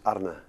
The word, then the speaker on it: Arne: The way I pronounce it, and Dutch people pronounce it, is Arne. Arne. Arne. Oh, it's not bad though. It's a bit of a tricky because the R's have to roll a bit.